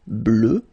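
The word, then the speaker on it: bleue: at the end okay phonetically doesn't exist because you don't pronounce it so you get blue as you would get for the masculine form okay but still you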